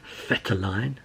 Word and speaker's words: Vetterlein: We had sort of a lot of defenders, and she found with the new ones, Laura Vetterlein, as I've been told it's how you pronounce it. Like an F, Vetterlein?